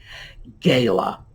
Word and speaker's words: gala: Gala. Now, this one we frequently hear as gala.